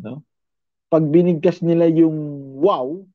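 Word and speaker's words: waw: Pero it pronounced as wow. Wow. W-A-W. Wow.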